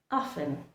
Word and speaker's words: often: So put pressure on this one, and then remember the T in this word, the T remains completely silent, often.